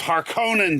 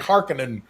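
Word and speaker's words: Harkonnen: heard you saying this when when I it's har Conan dang it haran right on man I'm like Harkin I hate remember remember back in the 80s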